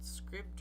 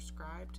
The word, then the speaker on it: Scribd: I use what was once called Scribd or Scribed, however you want to pronounce it, and now it's Everand.